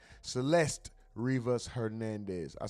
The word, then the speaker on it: Celeste: still a suspect in the death of Select Rez Rivas Hernandez. Police say Celeste Rivas Hernandez. I said her name wrong said Select.